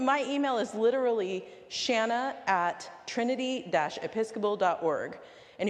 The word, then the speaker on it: Shana: name ever again so my name is Shanna it rhymes with banana and it's one of